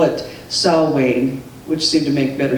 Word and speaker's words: Samhain: spelled Samhain you see that but it's actually pronounced Alan that's how you say it I did hear a French person on YouTube say call it Sal Wayne which seemed to make better sense but anyway